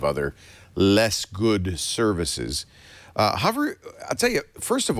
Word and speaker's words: Hover: be very clear that h o is pronounced hover it's not Hoover it's not a vacuum cleaner we're talking about the